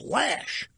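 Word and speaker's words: Loesch: He said it's Lash. I said, how do you get Lash out of the way it's spelled?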